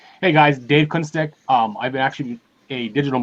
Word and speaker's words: Kunstek: How do you pronounce it? Kunstek.